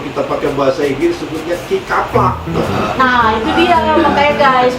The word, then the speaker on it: kicupluck: Jadi bacanya kikaplak gitu kan. Nah, kaplak sebenarnya.